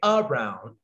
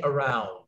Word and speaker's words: around: You can't say around, you have to say around.